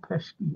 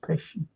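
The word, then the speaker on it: Pesci: Joe pish Jo pish that's how you pronounce his name not pesky it's pesy pesky celo yeah it's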